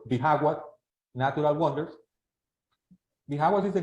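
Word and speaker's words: Bijagua: place that is called bagwa our J just so you know is pronounced as H in English so it's Baga natural wonders vas is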